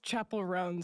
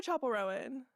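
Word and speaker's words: Chappell Roan: That's Chapel Ran. So, that's a point off. Yeah. What? I said Chapel Rowan. It's ran.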